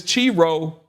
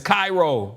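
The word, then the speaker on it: Chi-Rho: Okay, so this is how it's pronounced. Like I got to go back over all my recordings pronouncing this chiro. Y'all was with me and like seven is Cairo.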